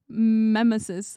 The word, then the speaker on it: Memesis: No emphasis on the second syllable. Oh, Salvatore. Memesis. Oh, you've also been saying memesis. Still calling it meme. Yeah, Memesis like Nemesis.